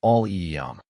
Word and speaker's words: allium: Aliium is pronounced all eum. The i is short like the i in win.